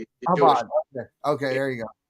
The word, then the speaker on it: Chabad: Well, it's Shabbat, but they pronounce it Chabad. Chabad.